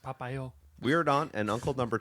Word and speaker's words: Popeil: Barbara Streisand and husband Ron Papale?